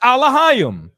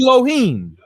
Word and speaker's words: Elohim: the same word Elohim we pronounce it alah they pronoun it Elohim I'm saying click on